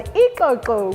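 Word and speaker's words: ixoxo: spelled i-x-h-e-g-u ikeku and another one ikoko which is a frog spelled i-x-o-x-o-e-koko and also our names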